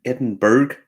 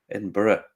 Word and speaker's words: Edinburgh: I was over in Edinburg as as every every American starts to say Edinburg and then you go no no it's edinb Edinburgh Edinburgh Edinburgh spilberg yeah I know that's not how that's pronounce and then then they